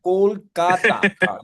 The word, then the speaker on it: Kolkata: Kolkata with a curs. That is the authentic pronunciation. I love Kolkata, man.